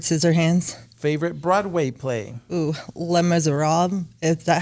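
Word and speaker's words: Les Misérables: Ooh, Les Miserables.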